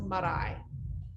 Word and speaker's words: Marae: her at jasmine underscore murray is that how you say it so you have to roll the tongue on the earth because my middle name is maori so it's marai marai wow that's so beautiful